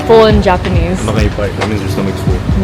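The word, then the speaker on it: お腹いっぱい: Nakaipai. That means your stomach's full. Nakepai? Oh, nakaipai. Nakaipai? I'm so nakaipai. Why are you saying You're already saying it already. Nakaipai.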